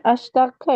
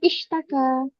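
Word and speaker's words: اشتكى: Ini astaka ya, Ustaz. Nah, itu bacanya ishtaka. Istaka min batoni.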